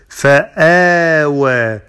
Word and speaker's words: فآوى: ألم يجدك يتيما فآوى، فآوى، there is natural mad ألف، فآوى، فآوى.